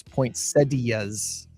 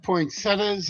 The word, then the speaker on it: poinsettias: Oh, I'm told the correct pronunciation is poinsettias, but some people Yeah, I know. I I've heard poinsettas. I've heard poinsettias.